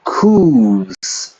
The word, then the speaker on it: coup: return to those days would be devastating the coups are the reason why our country stagnated for